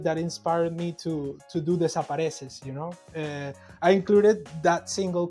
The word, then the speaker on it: Desapareces: Well, let's talk about your single, Desapareces, if I Oh pronounce yeah. that correct. Bien, bien, bien. Oh, yeah. Desapareces, yeah.